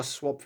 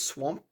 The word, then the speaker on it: Swap: one Ronin three uh swap rocks I I always pronounce this wrong but it's swap not swamp because it has the more